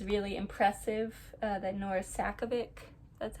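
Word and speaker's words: Nora Sakavic: I think it's really impressive that Nora Sakovic, that's how you pronounce her name, created like a whole fictional sport with rules and everything and like a regulation committee.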